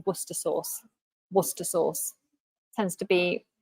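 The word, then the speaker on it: Worcestershire: oh hang on hello uh how do you pronounce Liam perin's wer so we say tend to say wer Source wer Source tends to be shortened but you might say werer wora sauce wora sauce but most people just say wer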